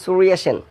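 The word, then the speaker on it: Surya Sen: দেখো আমি উচ্চারণটা করেছি সুরিয়া সেন। মূলত বাংলায় যেখানে আমরা অন্তস্থ জ ব্যবহার করি সেখানে ইংরেজিতে ওয়াই ব্যবহার করা হয়ে থাকে।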